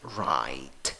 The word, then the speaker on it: right: Right. Y acabas en T. Acuérdate, ese G y esa H ahí distraen, no hacen nada. Las sacas y no las pronuncias.